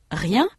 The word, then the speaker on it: rien: Le mot rien a une syllabe. Le premier son est la consonne R. Le dernier son, la voyelle, représentée par E n.